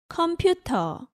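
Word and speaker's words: 컴퓨터: say computer in korean computer again there is no r sound in korean so in korean you say computer without the r at the end computer so how do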